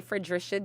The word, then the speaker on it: Fredrisha: um the ballot is going to say for drisha okay um that is the official name